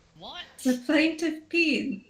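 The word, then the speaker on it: paean: Um, the proprietor of the plaintive peen is reporting that some of his things got stolen. I'm sorry, can you repeat the name? The plaintive peen. S- What? The plaintiff peen.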